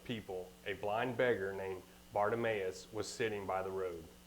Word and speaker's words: Bartimaeus: And it is entitled, Jesus Healed, pronounce it? Bartimaeus.